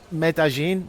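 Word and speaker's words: Medellín: and then flew to medin which I keep saying wrong I'm sorry I think it's spelled medalin but I think the two L's become a a sort of y g I don't know medin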